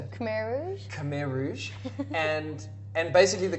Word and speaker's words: Khmer Rouge: Khmer Rouge.